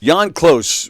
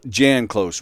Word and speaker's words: Jann Klose: Jann Klose will be our guest in a little while.